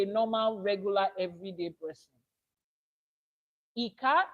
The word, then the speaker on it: Ika: Eka is pronounced just the same way I said e E like you say e for egg then k will be when you say kite so you have e as in egg and k as in